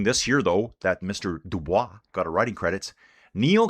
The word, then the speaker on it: Dubois: He calls himself the boys. I'm like, dude, you're saying your name wrong. And he goes, I know. My dad makes me say it that way. It's Dubois.